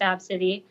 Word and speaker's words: Abcde: ABCDE, but pronounced Absidy.